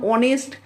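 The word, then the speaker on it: honest: nine he ইজ অ্যান অনেস্ট ম্যান অনেস্ট এর আগে এন বসছে কারণ এইচ এর উচ্চারণ এখানে নেই এইচ এর উচ্চারণটা নেই বলে সেজন্য অনেস্ট উচ্চারণ হচ্ছে সেই জন্য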